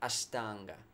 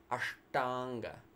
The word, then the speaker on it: aṣṭāṅga: stages of the practice so we say are Tonga not Ashtanga are Tonga the tongue goes up cerebral sounds are Tonga